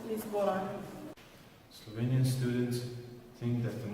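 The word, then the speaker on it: Lizbona: In Slovene, it is pronounced Lisbona.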